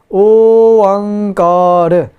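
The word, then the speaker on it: ਓਅੰਕਾਰ: Oankar. The O, Ang, and Ka are all long sounds.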